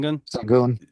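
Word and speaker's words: Şengün: Uh I cannot pronounce his name. Alperin Sanguin. Sing Sangun.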